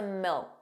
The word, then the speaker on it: milk: And milk sounded like milk. So did you hear that the final K sound, that K, was not pronounced? It was just a milk, milk. So you put your tongue in the position of a K, milk, but you just don't push out that sound. Milk, milk.